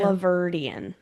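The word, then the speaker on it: Alahverdian: The name of the criminal is Nicholas Aliverdian. That's how you pronounce that? Yes, ma'am. Aliverdian.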